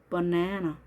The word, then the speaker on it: banana: 그래서 banana, banana라고 정확하게 발음해 주시면 좋겠습니다. 자, 바나나들을 하면 bananas, bananas. 자, 에 발음할 때 턱이 이렇게 내려갔던 거 기억나시죠? 그렇게 해주시면 바나나를 정확하게 발음하실 수 있습니다.